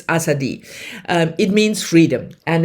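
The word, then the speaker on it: Azadi: The last time I pronounced it Assadi, but obviously that is not the way you pronounce this udu word. It's Asadi um it means freedom and it's about fascism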